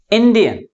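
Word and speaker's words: Indian: That's why the primary stress is on the first syllable.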